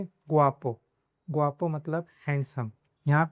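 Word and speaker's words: guapo: बाकी अगर खे ऊ के बाद में आ आता है तो उसको ऊ को प्रोनाउंस करना है, जैसे कि ग्वापो। ग्वापो मतलब हैंडसम।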